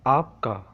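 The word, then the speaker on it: آپکا: First, your, तुम्हारा, आपका. First one, आपका. Second one, तुम्हारा. Let's see. Your. First one, आपका. आपका. आपका. अलिफ पे आप. काफ अलिफ का. आपका.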